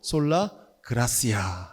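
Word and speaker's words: Sola gratia: 라틴어로 솔라 그라시아 이렇게 읽어요. 세 번째가 오직 말씀입니다. 라틴어로 솔라 스크립뚜라라고 읽어요.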